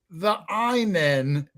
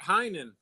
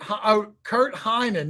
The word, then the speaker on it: Heinen: Yeah, Heinen. Heinen, not the Einen.